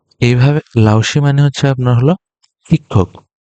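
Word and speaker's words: 老师: এই সি যখন উচ্চারণ করতেছি তখন একটু টান দিচ্ছি। তো এইভাবে লাওসি মানে হচ্ছে আপনার হলো শিক্ষক।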